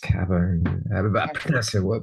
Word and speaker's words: Cabut: via Poland right later so but here it's pronounced Cabo pronounce it or any way you want really